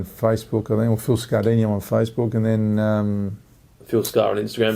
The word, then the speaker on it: Scardigno: Yeah, the G's a bit silent, but yeah, it's Scardingo. Dino. Yeah, that's it. Yeah, that's the Italian pronunciation.